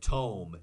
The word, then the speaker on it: tome: But tome, T-O-M-E, like home, but with a T.